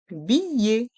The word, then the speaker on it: billet: À se rappeler que les dernières lettres, le E et le T, se prononcent «et». Billet. We must remember that the last two letters are pronounced «et».